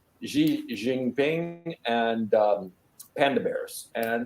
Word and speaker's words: Xi: appreciate this is um in Chinese the x is pronounced sh so it's actually XI